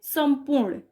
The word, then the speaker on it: संपूर्ण: अब ये देखिए प वर्ग का है तो इसका पांचवा क्या होता है, म, इसलिए इसको क्या पढ़ेंगे, संपूर्ण।